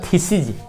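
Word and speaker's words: theses: और यदि इसको हम बहुवचन बनाएंगे तो इस ई को आई में बदलेंगे, आई को ई में बदल देंगे और उच्चारण होगा थीसिज, इज, थीसिज।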